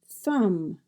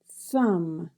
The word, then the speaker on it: thumb: through, through, throat, throat, thumb, thumb, and you'll notice the B is silent at the end of the word.